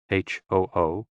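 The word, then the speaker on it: 呼: Hoo, pronounced like hu, which is associated with the spleen, and Xi, pronounced like shi, which connects the whole body.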